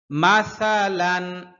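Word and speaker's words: مَثَلًا: ওয়াদ রিব লাহুম, ওয়াদ রিব লাহুম, ওয়াদ রিব লাহুম মাসালান, সা পাতলা হরফ, খেয়াল করতে হবে। মাসালান, জিহ্বার আগা সামনের উপরের দুই দাঁতের আগার সাথে লাগবে। মাসালান, গুন্না নাই, লানে কোনো গুন্না নাই।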